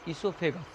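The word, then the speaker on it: oesophagus: इस नली को हम लोग ग्रास नली बोलते हैं, ईसोफेगस इंग्लिश में इसको हम लोग बोलते हैं, ईसोफेगस, वो साइलेंट रहता है, ठीक है, और ग्रास नली इसको बोलते हैं।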